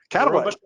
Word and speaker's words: Katenda: have Elliot, Neff, and Robert, how do you pronounce your last name? Katenda.